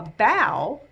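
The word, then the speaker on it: bao: wu and the perfect bow a bow is not b-o-w like bowing at the end of a show it's spelled b-a-o and it is a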